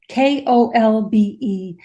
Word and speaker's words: Kolbe: My last name is an unusual spelling. It's not spelled like it sounds, but it's Kolbe.